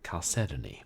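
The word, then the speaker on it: chalcedony: of microcrystalline quartz called chadoni oh pronounced cedon thanks for telling me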